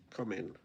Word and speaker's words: cumin: Sandy says, I was surprised by the way other countries pronounce the spice cumin. Almost spit my tea out. And the Americans will pronounce that one wrong too. Cumin spelled C-U-M-I-N. I don't know what that is in Norwegian even. Read C-U-M-I-N. Come in. There you go. I get it, but I don't know